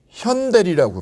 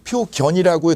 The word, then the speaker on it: 표현대리: 표현대리라고, 표현이죠. 표현. 견이라고 읽잖아요. 현이라고 읽어요. 현이라고.